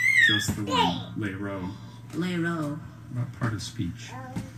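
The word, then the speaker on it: lerot: Lero. Lero. No. Lero. Lero.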